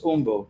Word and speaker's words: Jumbo: Now, J, the letter J is not pronounced in Spanish, so it's umbo, but I call it Jumbo.